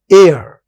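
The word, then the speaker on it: heir: एयर एन लगेगा। एन एयर of Congress party my jewellery alum इसमें भी एस साइलेंट है एलूम जो बपोती होती है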